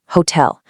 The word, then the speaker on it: hotel: And when you travel, skip the heavy hoe. Keep it soft and quick. Hotel.